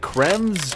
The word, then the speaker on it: Kremvh: Today I'm going to show you how to get Creme's Tooth. Creme Tooth. Yeah. Yeah, that's how you say it.